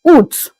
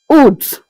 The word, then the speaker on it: août: In French, August is pronounced as août, août.